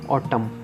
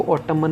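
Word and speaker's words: autumn: अब बस इसको बोलेंगे और टर्म इसको और टर्म मन नहीं बोलेंगे एंड साइलेंट रहेगा क्वांटम बॉटम क्या होती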